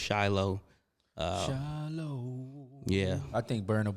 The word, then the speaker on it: Shiloh: Shiloh is the name, pronounced Shiloh.